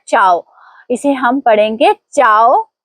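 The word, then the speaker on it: ciao: इसे हम पढ़ेंगे चाव ना के।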